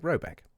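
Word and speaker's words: Råbäck: The manor house, or herrgård, in question is to be called Robach, pronounced something like Robeck, though that is not its name.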